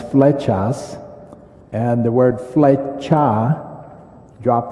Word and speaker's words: Flechas: for george and then my last name is fletchas and the word fletcha